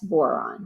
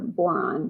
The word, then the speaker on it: boron: So it helps you remember boron because it rhymes with moron, is the leader of the stupid stairs.